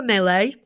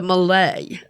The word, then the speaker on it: Malay: bra Spotlight is the melee or more correctly pronounced the Malay yeah I'm calling it The melee man you're incorrect though